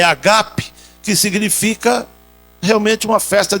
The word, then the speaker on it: ágape: vossas festas de amor a palavra grega aí é agap não é Ágape a pronúncia é agape que significa Realmente uma